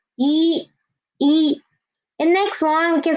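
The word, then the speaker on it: 一: First one is just one horizontal and its pronunciation is E. It means one in Chinese. E.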